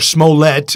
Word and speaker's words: Smollett: And the Jussie Smollett, or Smollett, as some people pronounce it. Is it French now?